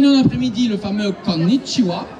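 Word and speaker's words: こんにちは: Quand on est en après-midi, le fameux konnichiwa, on prononce bien le double N, konnichiwa, et on dit wa et chi, c'est d'abord pas konnichiwa, ça veut rien dire, littéralement.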